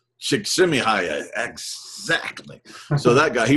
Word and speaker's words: Csikszentmihalyi: And Mihaly, can you pronounce the name, Doug? I believe it's Csikszentmihalyi. Csikszentmihalyi, exactly.